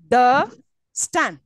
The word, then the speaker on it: understand: right next un understand how many syllables three three syllables and where is the stress last one so understand I'll say understand I will not say understand do I say that no understand do I don't I emphasis on the last one understand don't you hear this and it is also rising up if you've noticed understand yes I'm insisting on the last syllable okay right next continue